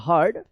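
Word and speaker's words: heard: summer David हर्ड एच ई ए आर डी हर्ड इसको हियर्ड मत पढ़िएगा हर्ड about mount serenity serenity S ई आर ई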